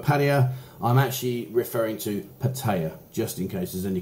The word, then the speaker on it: Pattaya: last vlog sorry um i got battered for saying patio and for patio and i've got people asking is it paddy jar paddy uh guys if my pronunciation is confusing or maybe you think it's incorrect i'm sorry okay yes it is pattaya and buzzing pattaya but